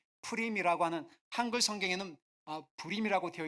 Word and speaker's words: 푸림: 푸림. 푸림이라고 하는 한글 성경에는 부림이라고 되어 있는데 히브리식 발음은 비읍 발음이 아니라 피읍 발음이에요.